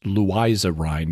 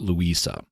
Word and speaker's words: Louisa Rhine: With a book by parapsychologist Louisa Rhine, and yes, it is pronounced Louisa Rhine, not Louisa.